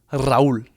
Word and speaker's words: Raul: Raul, if you want to roll your Rs and say it with some oomph.